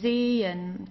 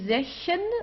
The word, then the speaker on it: sehen: So here, sehen, okay? So we don't say sechen or sehen or so. We don't pronounce the H at all.